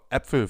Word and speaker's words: Äpfel: When it comes to the pronunciation of this letter, just think of the English term bat. And now use the same pronunciation as in the Ä from bat and use it for Äpfel, for example.